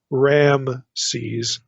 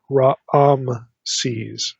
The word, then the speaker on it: Raamses: have literally Raam se's there's like two a vowels in the pronunciation it's not Ram se's it's Raam sees the way this is